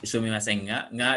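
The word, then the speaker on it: すみませんが: Jadi ini sumimasen nggak di sini karena boleh dikatakan kata bantu, jadi diucapkannya nggak untuk kata bantu itu ya, walaupun berdiri sendiri. Sumimasen nggak. Lalu yang berikutnya yang artinya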